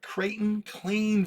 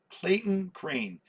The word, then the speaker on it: Clayton Crane: at here is a Creighton clean variant uh Clayton crane variant I think I keep getting his name that is the correct way to say it and this is a